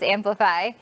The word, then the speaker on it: Amplifei: It's spelled different. It's AMPLIFEI. So it looks like Amplify, but it's Amplify.